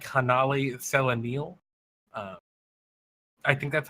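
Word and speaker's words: Hanali Celanil: That's a hard C. Hanali Kellenel.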